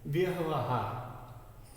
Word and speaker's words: व्यवहार: पहला वो है, वो आधा है, तो इसमें कम देर के लिए इसका उच्चारण किया जाएगा। व्यवहार, व्यवहार, इस व का उच्चारण पूरा है और ये देर तक किया जाएगा।